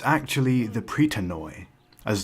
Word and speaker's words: Pritanoi: It's actually the Pritanoi, as the way I was saying it would be the Greek pronunciation.